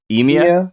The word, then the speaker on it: Emia: And then you mentioned earlier, is it pronounced Emia? Yeah, Yeah, you mentioned Emia. Emia.